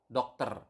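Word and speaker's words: dokter: then doctor is Doctor Doctor remember in basa we have covered this in previous lesson you need to pronounce the r okay so doctor not doctor or something like that but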